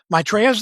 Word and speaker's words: Maitreya: Maitreya's their leader. That's spelled m a i t r e y a, Maitreya.